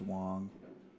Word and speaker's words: Wang: it's spelled Wang but I think it's a short a so it's Wong um so he learns